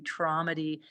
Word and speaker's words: Tromedy: to get access to traumdy. And it's spelled kind of funny. T R O like comedy with TR in front.